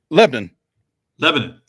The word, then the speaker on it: Lebanon: mentioned him, you corrected me, Mo, on my pronunciation of Lebanon. Did I do it right that time? Lebanon.